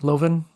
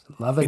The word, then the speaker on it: Lovan: Loven. Loving. It's actually pronounced loving, but I'm used to every variation you can think of it because most people don't want to say loving.